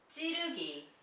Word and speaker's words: 찌르기: You see when she says the first syllable, very tensed. 찌. 찌. Her mouth very tensed, releasing the air. 찌. 찌. 찌르기. 찌르기. 찌르기. 찌르기. Okay, this is very important. It's like a double J sound, very tense.